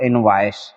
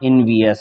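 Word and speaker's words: envious: तो ये ओवरऑल आपके सामने ये हो गया, बोले तो इनवाइस, है ना, इनवियस इसका प्रोनाउंसिएशन होता है।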